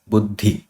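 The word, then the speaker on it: buddhi: it came after words so you pronounce it as budhi you say it du first then you say da D and D are very similar to each other so uh you won't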